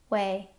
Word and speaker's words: weigh: There are some other words that have the same spelling and sound. So, we'll group these with the word eight. Wait. Wait. She entered her weight into the exercise app. We way.